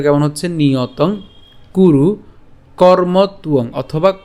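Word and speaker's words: কর্মত্বং: আপনারা জেনে গেছেন তা আরেকবার আমরা একটু দেখি উচ্চারণটা কেমন হচ্ছে নিয়তং কুরু কর্মতুয়ং অথবা কর্মতুং হ্যা আমরা এই কর্ম পর্যন্ত উচ্চারণ করার পরে তর সাথে উংটা উচ্চারণ করতে পারি।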